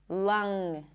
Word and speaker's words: lung: For example, king, strong, lung. Can you hear it? I'm not popping the G really.